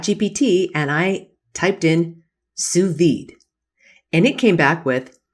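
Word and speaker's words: sous vide: but if you wanted to know know about suid it's spelled s o u s v d which is a French cooking technique and you went to Google you would just put in suid and see what comes up but generative AI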